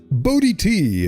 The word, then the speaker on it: Bo Di T: in case you weren't here for that, it's Bodhi T if you want to know how to pronounce that.